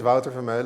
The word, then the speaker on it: Wouter Vermeulen: So my name is Wouter Vermeulen, as you would pronounce it in Dutch, but Vermeulen is okay if you want to pronounce it like that.